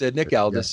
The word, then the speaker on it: Nick Aldis: And I don't know how to pronounce his last name, but Nick Aldis or something, I think. Yeah, it's Nick Aldis.